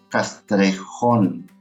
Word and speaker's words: Castrejón: En Facebook me encuentran como, Castrejón, acento en la O, y lo más seguro es que salga ahí de los primeros.